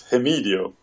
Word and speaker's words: Hemidio: I've been pronouncing our Medio's name wrong all the time. It's Hemidio.